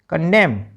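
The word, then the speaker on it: condemn: सी ओ एन डी ई एम एन कंडेम N silent यहां पर भी।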